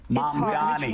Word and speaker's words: Mamdani: And my apology, I apologize for mispronouncing your name for the past few weeks, but I'm getting better. Mamdani.